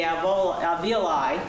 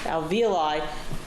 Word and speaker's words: alveoli: Andrews indicated, as a possible way that blood got into the alveoli, I keep pronouncing that wrong, alveoli, does this slide support leaching or a little bit of drainage?